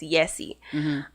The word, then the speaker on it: Jessie: In Spanish, it's pronounced Yessi.